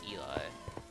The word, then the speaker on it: Eli: Yeah, she's supposed to pronounce Ellie, but I call it Eli, because it makes more sense to my American tongue.